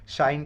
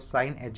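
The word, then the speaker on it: sinh: हैं छोटे से, देखो साइन एच एक्स कोई इसको हाइपरबोलिक साइन, ये हाइपरबोलिक साइन होता है, शाइन की रीड करता है, शाइन मैं तो शाइन रीड नहीं कर रहा हूँ, सिंपली साइन बोलकर इसको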